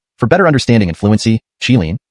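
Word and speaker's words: qilin: better understanding and fluency chilin is translated as Kirin which is the Japanese pronunciation of the Chinese chilin a mythical creature the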